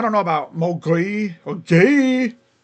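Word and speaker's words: Gueye: And I don't know about Mogri or Gay, which is actually how you kind of say his name. Gay. It's funky spelled, but I think it's gay.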